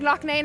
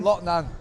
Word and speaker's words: Loughnane: They're like LOUGHNANE. I'm like, maybe he wants it pronounced like that. No, your name's LOUGHNANE. LOUGHNANE.